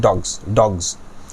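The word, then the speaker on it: dogs: তোমাদের বিশেষ মানে অনেক বেশি জানার দরকার নেই, এই শব্দটা মুখস্থ করে ফেলো যে ডগসের এস পরিবর্তন হয়ে জি বাংলার জি হয়ে যাচ্ছে।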